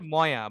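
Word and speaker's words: ماءٌ: dialect এরাবিকে মাকে বলে মাউন কে বলে ময়া বা মেওয়া অনেক ভাবে বলে ময়া বলে মানে ওইটা আপনি সৌদি গেলে দেখবেন এই উচ্চারণটা করে বাট এটার রিয়েল উচ্চারণটা হচ্ছে মাউন মাউন মানে পানি মাউন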